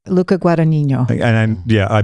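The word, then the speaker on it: Luca Guadagnino: And the director of the reimagining, how do you pronounce his name? Luca Guanino.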